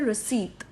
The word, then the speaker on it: receipt: रिसीट. नॉट रिसिप्ट बट रिसीट.